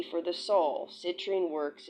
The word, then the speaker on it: citrine: The citrine. Citrine. The latrine. Citrine reminds rhymes with latrine.